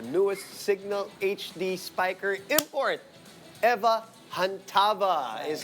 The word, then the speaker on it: Eva Chantava: Eva Chantava is how you pronounce her name.